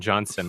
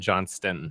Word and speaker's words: Johnston: Well, my name is not Johnson. It's Johnston.